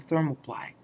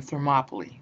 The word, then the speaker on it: Thermopylae: Now, I don't know how much you know about the Battle of Thermopylae, or Thermopylae, depends on how you want to pronounce it.